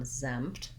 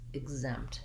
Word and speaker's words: exempt: and lacks exempt exempt i have the red tent vowel in exempt i'll just spell that with letter e because that's how we typically spell that vowel and then you'll hear when i say exempt exempt i'm not really doing a loud p sound because my lips are already closed for the m exam exempt exempt i'm